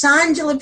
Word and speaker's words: Shawngela: So it's Shawngela.